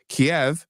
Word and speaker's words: Kiev: remembering the rationale correctly, Kiev is the Russian pronunciation, God. and Kyiv is the Ukrainian pronunciation.